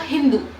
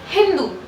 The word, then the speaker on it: हिंदू: सिंधु को old Persian language में बोला जाता था हिंदू. प्रोनाउंसिएशन होती है ना, तो ओल्ड पर्शियन में इसकी प्रोनाउंसिएशन होती थी सिंधु की एज हिंदू, ठीक है?